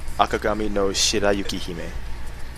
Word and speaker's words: Akagami no Shirayuki-hime: The pronunciation is Akagami no Shirayuki-hime.